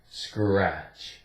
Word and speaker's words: scratch: Here, the C sounds like a K. Skr, or kr. Yeah. R, r. Scratch, scratch.